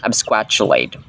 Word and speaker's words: absquatulate: Straight From online dictionaries this word is pronounced absquatulate absquatulate ang absquatulate mga sombreros ay verb ito